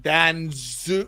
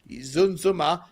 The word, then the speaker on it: Danjuma: I think you're going to see the boy Danjuma.